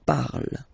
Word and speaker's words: parle: pronounce it is je parle, parle. So remember, we put it, okay, but then we don't really pronounce it, je parle, okay.